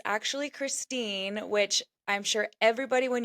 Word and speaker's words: Kristin: So, it's Christine Christine. Um, but it would be like if it would have the accents on the eyes. So, Christine. Um, but yeah, that's been my lifelong battle with the pronunciation of my name. I always say it's like an imaginary e at the end.